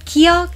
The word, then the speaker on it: 기역: 기역 has an in-between sound of English g and k sound.